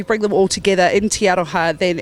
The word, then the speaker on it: Te Aroha: A little place like Te Aroha, and I say it right. I said it right. Te Aroha, Fletch. What? Te Aroha.